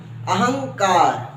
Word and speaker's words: अहंकार: गया अब देखो अहंकार अहंकार में अनुस्वार लगा है तो बोलेंगे अहम अहं अहं अहंकार ठीक है जी अब